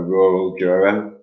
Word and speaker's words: rural juror: Americans have what is called a rhotic R, right? How do you pronounce this? I'm gonna put it on the screen. A rural juror.